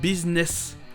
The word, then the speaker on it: business: ou encore le fameux business. Oui, ça paraît bizarre, mais c'est bien business.